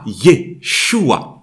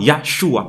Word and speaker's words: Yeshua: La grammaire hébraïque veut que lorsqu'un nom comme Yah est élongé, le A de Yah devient un court sans E. Ainsi, on aura Yeshua. On ne peut pas avoir Yahshua parce qu'il a été élongé.